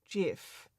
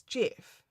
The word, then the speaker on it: GIF: Livestream consultant says it's pronounced with the soft G because the creator of the format said that's what it is with the soft G, deliberately paying off the most peanut butter GIF.